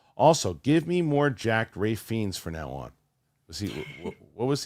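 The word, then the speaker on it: Ralph Fiennes: Also, give me more jacked Rafe Fiennes for now on. What was he? Rafe Fiennes.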